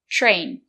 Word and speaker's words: train: Letter T is before the letter R. So we pronounce it as ch train.